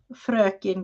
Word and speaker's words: Fröken: what Chris just wrote, it is hey, Mrs. Gigi. Or correctly in Swedish, hey, Fröken Gigi. So a whole different type word there.